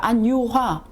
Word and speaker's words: 안유화: 네, 발음을 똑똑히 해주세요. 안유화. 제가 뭐라 했나요? 안유화라고 했어요. 너무 지쳐 보이셔서 쉬시라고 휴자, 쉴휴.